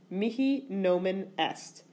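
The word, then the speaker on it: mihi nomen est: you want to know how to say my name is in Latin its Mickey no minest literally the name to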